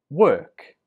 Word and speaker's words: work: So 22, we pronounce this word, work. Work. Remember, 21 was walk. This one is work. Walk and work. The difference is in the vowel, or and er.